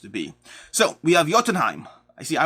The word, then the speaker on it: Jotunheim: be so we have jotunheim i see i always want to say jotunheim but i've watched enough marvel now that i know it's jotunheim and yes if you